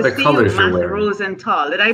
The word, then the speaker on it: Rosenthal: Matt Rosenthal. Did I pronounce that correctly? You pronounced it wonderfully. I love it too. The purple, I love it. I did. Rosenthal.